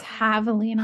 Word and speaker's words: javelina: It's javelina.